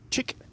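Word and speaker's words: Czyż: match was telling me it is chick at the end. I think one cz y is pronounced chick because we've got a voyek chevik who plays on the pter and that's exactly the same end of word spelling but it's mihal definitely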